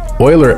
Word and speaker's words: Euler: Euler actually means, it's spelled E-U-L-E-R, but pronounced Euler, like oil.